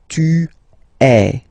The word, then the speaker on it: es: And for tu, then you've got this combination of letters, okay, but then basically the sound you will pronounce or you will produce is est, okay. Tu es, all right.